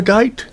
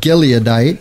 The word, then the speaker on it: Gileadite: so uh jetha was a the Gite G gadite gadite how do you say that gileadite yeah gileadite there we go and a mighty